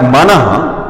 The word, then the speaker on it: मनः: विसर्ग का मतलब यह है कि ह इसका उच्चारण होता है मनः, यह विसर्ग है।